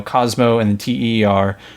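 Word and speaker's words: Cosmoteer: and I I think Cosmo Tier is a dead game. I don't think it's still being worked on, but if you Google it, it's it's how it's pronounced, you know, Cosmo and Ter.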